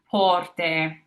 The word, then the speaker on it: porte: So, for example, in the word porte, porte, that AY at the end of the word there is that E.